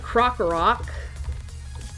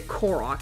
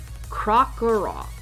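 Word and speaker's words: Krokorok: I am going to put Crocarok. I'm going to accidentally say Korok. I know it. Crocarok.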